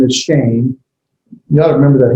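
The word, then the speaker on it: שם: The Hebrew word for name is shame. Shame, yeah. You don't need to remember it. It's the Shabbat with the Sere underneath it. But yeah, like S-H-A-M-E is how we pronounce it with the final N.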